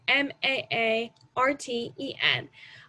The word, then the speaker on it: Maarten: The French side spells Saint Martin S-A-I-N-T, and Martin, Martin, while the Dutch spells it Sint and Martin as Maarten. Of course, it is pronounced the same, but this kind of